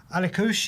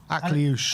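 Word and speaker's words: Akliouche: Alikush, is that how you pronounce it right? Akliush. Akliush, okay, excuse me.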